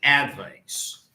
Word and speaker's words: advice: Say advice. Advice. Sorry. Say it. Advice. Advice. Advice. Advice. Where does the stress fall? Ad. No. I. The advice. Advice. Where does the stress fall? On the second syllable.